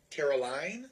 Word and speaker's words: Caroline: Caroline? Yes. Line, okay.